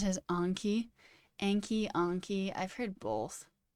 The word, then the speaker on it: Anki: Anki is a Japanese word for memory, and it's pronounced in Japanese as Anki.